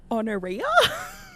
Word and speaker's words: Honoria: But like there's no way that Honoria's name rhymes with gonorrhea.